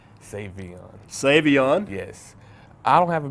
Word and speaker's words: Sa'Veion: Avion lots of people say save me and save on Savion Savion yes I don't have a big huge ego